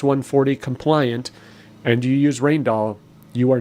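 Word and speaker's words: Rijndael: the symmetric crypto there's rainall it looks like rigin but it's pronounced rainall it is unfortunate that is chosen that should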